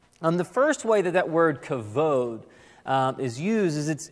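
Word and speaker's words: כָּבוֹד: Well, the Hebrew word for glory is actually the word kavod. So you may have heard some pronounce it kabod, but I like kabod because when I hear kabod, I think of Kubota tractors, and that's just confusing right off the bat. So kavod. Now, kavod is kind of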